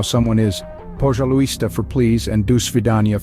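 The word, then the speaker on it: пожалуйста: The Russian word for please is "Pojaluista," pronounced as "Pojaluista."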